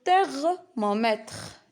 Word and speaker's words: thermomètre: Alors on a TH, c'est un T. Les maths. Le thermomètre.